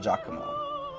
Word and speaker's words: Giacomo: Edward Zilberkant explained in his pre-concert lecture that in Italian, when you have the letters G-I-A, you pronounce it Gia, like the beginning of John.